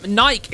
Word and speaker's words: Nike: There's an E at the end. Oh yeah, I'm going to go on a hikey later. I really likey a hikey on my bikey." Like, why would I pronounce the E when no other word pronounces the E.